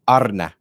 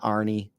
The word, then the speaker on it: Arne: sound cooler he said his first name is pronounced Arna Arna arlot okay uh not Arie he's like it's not